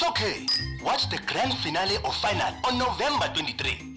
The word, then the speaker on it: finale: miss pronunciation today's word finale origin Italian pronunciation finale meaning the last part of a series commonly mispronounced as final as if you are discussing your metric results example I can't wait